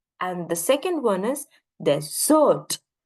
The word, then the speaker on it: desert: the second one is desert right desert and desert desert is basically we emphasizing on D right the the first